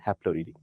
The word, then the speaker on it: Haplorhini: Okay, Strepsirhine is kind of spelling, the pronunciation, but Strepsirhini, and Haplorhini.